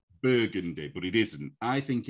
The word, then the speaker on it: Burgundy: the color it's burgundy if it's the street it's burgundy yeah because i've noticed some not all but some american names you put the emphasis on the second part rather than the first part here we we always have the emphasis on the first yeah and i have